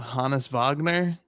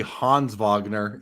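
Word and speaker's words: Honus Wagner: Chris, look, I think I'm going to use How did we say the name is supposed to be pronounced? Uh, Hannis Vagner or H I think it's actually Hans Vagner is not even there's no it's Hans Vagner, I believe.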